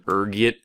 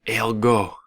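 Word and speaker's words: ergot: There's a few different ways you can pronounce it depending on your social standing, ranging from urgot to elgo. Being the disheveled puper I am, I prefer urgot.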